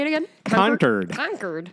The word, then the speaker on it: Concord: did they do that by the way it's pronounced conquered which I was corrected